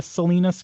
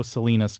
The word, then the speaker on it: Salina: I don't know if there ever used to be a Salinas, Kansas, but there is no Salinas, Kansas now.